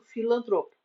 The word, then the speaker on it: filantropo: O indivíduo afável, bondoso, altruísta é aquele que se diz pessoa filantropa ou sujeito filantropo. Vocábulo igualmente paroxítono.